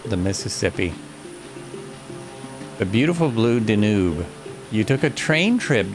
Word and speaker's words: Danube: It's pronounced Danube. Danube, yes it is.